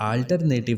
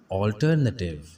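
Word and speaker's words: alternative: तो याद रखिए ये अल्टरनेटिव नहीं है, हम इसको अक्सर अल्टरनेटिव पढ़ते हैं, लेकिन ये इसकी गलत प्रोनाउंसिएशन है। सही तलफ़ुज़ है ऑल्टरनेटिव, ऑल्टरनेटिव, ऑल्टरनेटिव, ऑल्टरनेटिव, ऑल्टरनेटिव, ऑल्टरनेटिव, ऑल्टरनेटिव, ऑल्टरनेटिव।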